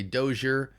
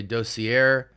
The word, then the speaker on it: Dossier: r some people say doer some people say dosier I think it's dossier um but yeah so